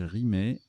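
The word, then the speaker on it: rimaye: Rimaille ou rimet, ça se prononce aussi rimet.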